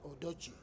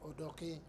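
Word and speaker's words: Odoki: justice Benjamin J odok here they wrongly pronounce it odoi this odok I say so because it is a l name so I I I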